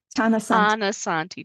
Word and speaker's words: Tanasathi: The T is aspirated. So it doesn't sound like a th tananti. Tanosanti.